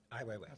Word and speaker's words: Ai Weiwei: And a moment of irony, in Saturday's New York Times, and I'm going to pronounce his name wrong. Ai Weiwei. Ai Weiwei.